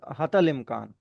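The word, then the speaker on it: حتى الإمكان: ठीक है, अब दूसरा एग्जाम्पल यहाँ पे दे रखा है, हत्ती अल इम्कान। तो इट इज हतल इम्कान, यहाँ पे भी छोटी ये जो है साइलेंट हो जाता है।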